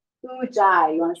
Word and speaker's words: Ujjayi: Ujjayi. Ujjayi.